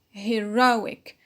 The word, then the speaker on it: heroic: do not stress conjunctions heroic heroic is a adjective and the stress is on ro because of the ink rule on the pinult acts is a noun